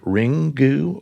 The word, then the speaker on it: Ringu: Pronounced Ring-gu.